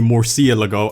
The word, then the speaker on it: Murciélago: call it the Lamborghini Murciélago, I'm gonna be like, that's alright by me. If you call it the Murciélago, which they call it on Top Gear, that's how they say it. Murciélago.